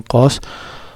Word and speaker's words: cos: Kemudian kosinus itu cos ya, atau membacanya kos. Tangen itu disingkat dengan tan ya.